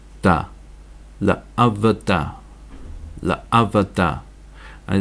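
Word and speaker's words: לְעָבְדָהּ: So we've got l, a, v, da, la avada, la avada. And it's very pronouncing to actually say, put a dot here and say la avoda, but that's not what it says. It's la avada, la avada.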